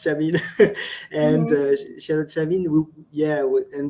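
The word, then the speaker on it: Chamine: It's called Mhm, it's pronounced Chamin, and mhm, Shazad Chamin.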